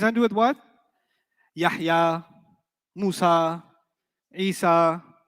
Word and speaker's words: Musa: Musa will always be non-flexible. Musay. You haven't heard Musi, you've heard Musay. That's a qira'ah difference. It's a pronunciation difference, not a grammar difference.